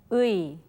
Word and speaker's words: 의: So let's look and listen to how 선생님 pronounces it. 의, 의, 의.